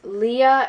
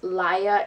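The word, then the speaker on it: Laia: characters because when i was reading it i pronounce it as Leah and Elias but from what I've heard it's actually pronounced liya and Elias going back to the characters I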